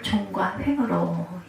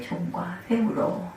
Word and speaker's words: 종과 횡: 너는 일어나 그 땅을 종과 횡으로, 길게 발음하면 안 되죠. 짧게 종과 횡으로.